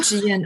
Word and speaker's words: Gian: I tell people the pronunciation of my name is like good night GN. And that's why when they work with me, they have good night's sleep. I'm Gian, originally from Shanghai.